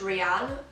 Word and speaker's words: Rhiain: i don't know it's fine my name is pronounced rhiann so i'm really sorry dad if you're watching